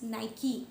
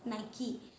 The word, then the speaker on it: Nike: So this word, it is supposed to be pronounced as Nike, not Nike. It is Nike.